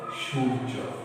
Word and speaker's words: সূর্য: যখন রেফ কোনো বর্ণের উপরে থাকবে সেই বর্ণটির দ্বিত্ব দুইবার উচ্চারণ হবে না। ধার্য, ধৈর্য। কি বলেছি? ধৈর্য, ধার্য, ধৈর্য, সূর্য।